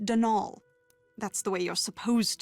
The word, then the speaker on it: Donal: that was the caretaker denial delaney not donald mind you there's no d at the end so it's pronounced denal that's the way you're